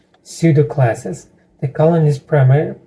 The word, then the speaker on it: pseudo: one Pudo Pudo pseudo pseudo okay uh it's used for specifying pseudo classes in CSS and I asked him what is Pudo the answer is PSE sudo which in fake classes